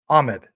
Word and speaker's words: Ahmed: that many times so no the H is not silent um okay Ahmed Ahmed okay I know other people